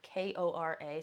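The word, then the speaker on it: Kore: you translate the word Corey cor k k o r e or k o r a so sometimes it's pronounced Kora it actually translates to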